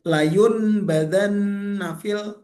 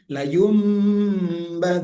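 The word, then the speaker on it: لَيُنْبَذَنَّ: Jadi bukan layun badan nafil bukan. Tapi dirubah menjadi layumban dan dibacanya panjang didengungkan. Kalla hut.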